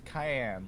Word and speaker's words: Cayenne: I know, but it's cayenne, like the pepper.